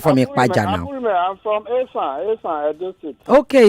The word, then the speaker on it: Esan: Call Isha. It's not Isha, please. Esan. Esan. Yes. Benny, now I know how to pronounce it. Esa Abulime. It's the British that used to call it Ishan.